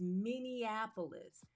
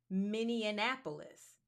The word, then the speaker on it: Minneapolis: The way I see it and the way I spell it, it is Minneapolis. However, both Ella and I have repeatedly heard people refer to it as Minianapolis.